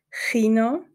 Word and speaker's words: Chino: hat ein Buchstabe weggelassen Chino ist Kino ah das K wird ein bisschen anders ausgesprochen insgesamt sind sich die